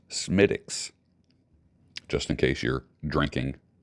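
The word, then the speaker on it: Smithwick's: marriage I was informed by an Irishman that Smith Wick's Irish ale is not pronounced Smithwick okay it's pronounced smiix just in case you're drinking smiix Irish ale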